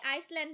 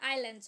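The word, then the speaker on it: Islands: হ্যাঁ হোয়ার আর the canary আইসল্যান্ড না, ওইটা আইল্যান্ডস হয়, এখানে এই এসটা সাইলেন্ট থাকে, ঠিক আছে।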